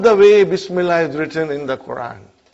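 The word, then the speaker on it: بسم الله: If you took out B, how will you pronounce now? Ismullahi. What will you say? Ismullahi. Bring B, Bismillahi. Bismillahi.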